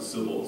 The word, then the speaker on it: Cybele: I'd like to pronounce it Cybele.